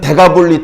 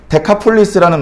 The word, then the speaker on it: 데카폴리스: 이 데가볼리는 원래 데카폴리스라는 말이거든요. 원문에 보면 데카폴리스.